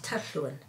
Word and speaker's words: Tathlwyn: It's Tathlwyn. It's a natural sound to me because I live in Wales, and the double L, everyone else says it as a L sound, so it's or Tillwyn.